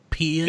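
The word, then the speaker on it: Paean: So Payan, it's pronounced Payan.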